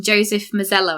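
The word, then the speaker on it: Joseph Mazzello: Actually, the um actor that played Tim, Joseph Misello, I think it's pronounced, um he actually auditioned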